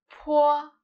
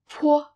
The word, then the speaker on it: 坡: This initial is 坡, 坡, 坡. Different from 波, 坡 is aspirated, which means that you can feel a strong puff of air released from your mouth.